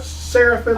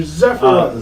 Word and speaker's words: Zephyrim: So this is Zephyrim. Say them right. Everybody online says them wrong. They're not Seraphim. They're not Seraphim. I don't know why I said Seraphim. They're Zephyrim. Zephyrim.